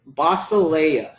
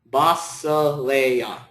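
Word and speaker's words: βασιλεία: And I'm going to do my favorite, basileia. So it's beta, alpha, sigma, iota, lambda, epsilon, iota, alpha. Basileia.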